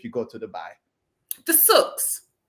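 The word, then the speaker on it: souk: do this if you go to Dubai the sus it's spelled s o u k the sus there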